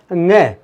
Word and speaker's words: ङ: अड़े नहीं बोलते, इसको अड़े न बोलकर इसको बोलते हैं हम ङ। तो इसका सही उच्चारण होता है दोस्तों ङ।